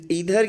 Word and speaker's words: either: Have के अंदर problem है क्योंकि इधर या आइदर बोथ प्रोनाउंसिएशन आपके बिल्कुल सही है, ठीक है।